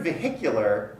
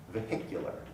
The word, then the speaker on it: vehicular: a vehicular accident vehicular in the word vehicular the h is pronounced which shows us that